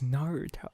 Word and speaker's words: Naruto: and I was like no it's Naruto not Ruby tell oh it's just the